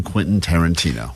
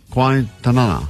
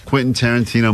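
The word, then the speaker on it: Quentin Tarantino: Quinton Tarantino movie and she's never successfully pronounced Quinton Tarantino that's true all week as she's been talking about this prize we have she's been saying quasa qu Quon qu Tanana qu Tanana so we're like what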